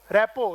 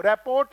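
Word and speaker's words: rapport: ठीक है, मैं फिर बता रहा हूं कि इसकी राइट प्रोनाउंसिएशन रैपो है, रैपो। ROT को मत बोलिए, रैपो। तो लिखना है कहीं पर लिख लेना, रैपो है, रैपोर्ट नहीं है ये।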